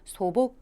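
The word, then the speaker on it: 素朴: 마찬가지로 우리말에 박이라고 있습니다 그래서 음의 막으라고 읽으시면 안 되고요 바로 보시는 거죠 처럼 보 그라고 읽어서 소박이란 한자는 소복 그라고 읽어 주셔야 되겠습니다 자 이어지는 단어 보실까요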